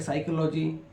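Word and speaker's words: psychology: पी एच पी एस वाई सीओ साइको या साइकोलॉजी same प एस वा सीओ इसे पढ़ेंगे साइको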